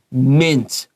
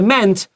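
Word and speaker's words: -ment: MENT 发 mint, 不是 meant, mint.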